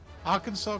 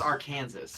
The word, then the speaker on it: Arkansas: Arkansas cannot be pronounced. What? Because Like it's it's actually technically- pronounced. Well, no, Well, it's actually because- technically pronounced Arkansas.